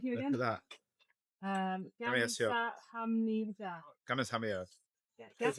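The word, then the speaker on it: 감사합니다: Gamsa hamnida. Gamas hamio. That's right. Yeah. Is that right? Oh my Yeah. God. Slow pronunciation.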